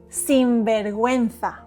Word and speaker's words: sinvergüenza: Sinvergüenza. So these are pronounced ge, and gi, but with the two dots on the u, la diéresis, we pronounce the u. Gue, gui. So repeat. Sin, ver, guen, za.